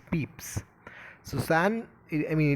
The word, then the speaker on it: Pepys: diary of samuel peeps it's not peppis actually it's peeps susan i mean it's been pronounced as peeps so samuel peeps is